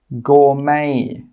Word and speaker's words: gourmet: The letter T is not pronounced in these words. Castle, Christmas, gourmet, listen, rapport. In all of these words, we're not pronouncing that T sound. It is silent.